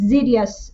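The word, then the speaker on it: Xydhias: y d h i s although it is pronounced as zidious agreement a serious agreement is an agreement reached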